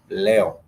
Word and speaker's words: leo: karibu kwenye darasa letu leo. Leo, which sounds which is really just spelled like Leo, means today.